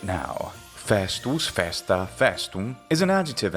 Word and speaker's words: festus: for holidays and weekends it's worth noting that festus may or may not have had a long vowel in classical latin etymologically it comes from a long vowel for certain however the spanish word fiesta and the open italian vowel fasta seemed to suggest that the vowel had become short or at least remained